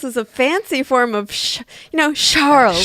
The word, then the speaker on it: Charles: I thought this was a fancy form of Charles. Charlet. Herbert. Charlet. No, not at all. Just plain old Charles, like an American.